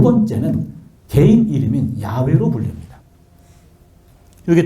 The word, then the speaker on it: 야훼: 그래서 찾아낸 발음이 야훼인데 요 H자가 문법적으로 하면 무음입니다. 묵음이에요. 그러면 야훼가 돼요. 야훼.